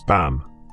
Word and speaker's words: bean: Bean, spoken as ban, is simply the Irish word for woman.